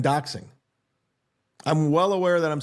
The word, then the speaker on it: doxing: By the way, I'm just for the record, I'm well aware I'm saying it wrong, but I prefer doxting. Yeah, this is a bit they're doing, guys. Did you think they don't know the word? This is a bit. I like that better, doxting, than doxing.